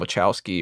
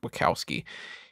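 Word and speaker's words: Wachowski: to this family uh Tom wowski or wowski I think they had pronounced it wowski he is a cop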